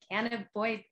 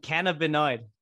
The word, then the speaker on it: cannabinoid: boy it kind of it's a hard word for me to say can't avoid me can't a boy i'm not saying it right cannabinoid cannabinoid thank you i was missing that second end cannabinoid can avoid uh